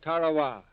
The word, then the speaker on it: Tarawa: in the mid-pacific called Tarawa that pronunciation incidentally is from the National Geographic Society that Island will never